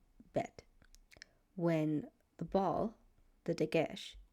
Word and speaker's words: Bet: So something you should know that the letter when it makes a B sound, it's pronounced the name of the letter is pronounced bet.